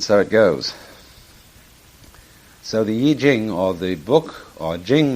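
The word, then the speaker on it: Yijing: book of changes called the yi jing not the y ching uh i'm afraid that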